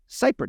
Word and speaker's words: Seipert: e e r t Zach I'm pronouncing your last name right right is that 100% correct yep it's a German Heritage so that's great you got it on the first try excellent and something that